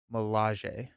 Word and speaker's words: Milaje: The E on the end of Dora Milaje is pronounced the way at the E of Okoye. Milaje.